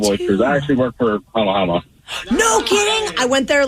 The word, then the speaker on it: Hama Hama: The place is Hamma Hamma, but the company, like the oyster company, is Hama Hama. Interesting. Do you like oysters? Yes, love oysters. I actually work for Hama Hama.